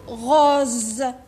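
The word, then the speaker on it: rose: هذه تنطق الزا، نقولوا غوز.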